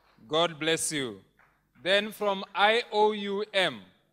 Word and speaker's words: IOUM: Then from IOUM, if you leave the OM, you pronounce it IOU.